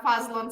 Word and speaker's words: Fadzlun: for you well Bill first and foremost you pronounce my name just right I'm Faz Lon but to make it easier for you